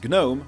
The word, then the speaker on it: GNOME: in this video I'll pronounce gnome like you're supposed to with a hard G no not no yes